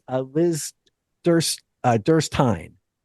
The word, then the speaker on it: Derstine: Um, it's, uh, Liz Durst uh, Durst Tine. Rhymes with Pine.